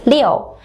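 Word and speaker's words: 六: The number 6 in Mandarin pronounced as liu, similar to Floyd, liu, and is therefore considered to be good for business.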